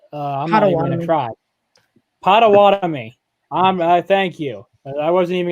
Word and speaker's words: Potawatomi: from Potter I'm not even gonna try and pronounce that I don't want to try Potawatomi thank you I wasn't even gonna try that